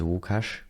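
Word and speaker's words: Łukasz: How do you prefer to be called Lucas or Wukash? At this point, I'm giving up. uh on people managing to pronounce my name properly. Uh so like my literal pronunciation of name is Wukash.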